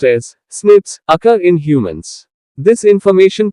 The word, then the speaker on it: SNPs: single base DNA differences SNPs single nucleotide polymorphism pronounced as snips occur in humans.